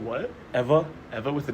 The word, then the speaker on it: Ewa: area called Ewa Beach it's spelled with a W though so it's called what Eva Eva with a W